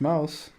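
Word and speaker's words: Maus: gonna call it mouse how would i say that it's i think it's probably german yeah it's just mouse is it do you pronounce it the same yeah oh cool so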